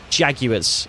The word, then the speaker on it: Jaguars: of crazy pronunciations of Jaguars Jaguars Jaguars even Jaguars is how it's pronounced just in case you didn't know Blake